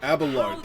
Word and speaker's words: Abelard: Abelard, that's how you say his name.